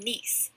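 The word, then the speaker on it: gneiss: rock include marble and nice with a silent G last type of rock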